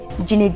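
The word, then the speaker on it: dzong: में बड़े-बड़े केले बनवाई जिन्हें झोंका भाषा में जंग कहा जाता है इंग्लिश में कहते हैं लेकिन जोखा में दे साइलेंट होता है तो जॉन कहा जाता है बुद्धिस्ट स्टाइल में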